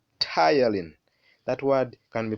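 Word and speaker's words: ptyalin: saliva is called saliva amylase sometimes it's called tylene that word can be pronounced as tylene so we have the tongue the tongue rolls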